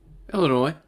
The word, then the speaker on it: Illinois: Illinois.